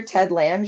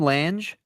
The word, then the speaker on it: Lange: Is that how you say his name? Lange. Lange. Oh, I almost called him Ted Lang.